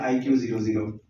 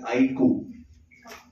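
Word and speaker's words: iQOO: Pronounce करते हैं ऐसे, आईको। ओके, आईको। तो सिंपल तरीका याद करने का, जैसे आप कहते हैं आई कूल, तो कूल में से L हटा दो, तो आईको।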